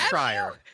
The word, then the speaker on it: Schreier: I've talked to him on the phone and I don't remember how to say his fucking name. I He's think told it's me. Schreier. Can we hear about that story?